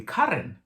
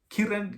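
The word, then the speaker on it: Ciarán: pronounce it it's kiran because i'm seeing c-i-a-r-a-n but turns out it's actually current and i'm like oh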